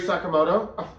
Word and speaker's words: Sakamoto: Carrie Sakamoto. I'm the Don Cherry of this thing. I'll get every name wrong.